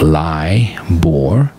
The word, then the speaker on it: LIBOR: know what liore is l i b o r pronounced lie bore is at the center